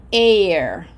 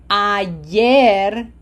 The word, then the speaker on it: ayer: It's not air. Okay? How do we pronounce the A in Spanish? Ayer estudié por tres horas.